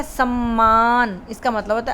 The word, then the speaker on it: सम्मान: समान, समान का मतलब है इक्वल, बराबर, और एक है सम्मान, इसका मतलब होता है आदर, इज्जत, मान देना।